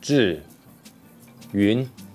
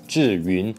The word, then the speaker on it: Zhiyun: So the pronunciation is Zhiyun. This is a really funny name because for foreigners, this is basically impossible to pronounce. Zhiyun. Zhiyun. Zhiyun. Zhiyun. Zhiyun. Disgusting. In English, you don't really have that sound.